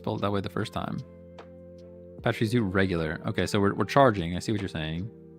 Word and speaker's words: Pachirisu: And Pachirisu for charging. We're charging it up. Not Parchy. Not Parchy, we're Patchy. You know? Patch? Pretty sure I did spell it that way the first time. Pachirisu regular.